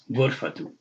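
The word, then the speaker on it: غرفة: It's pronounced like with a soft H on the end.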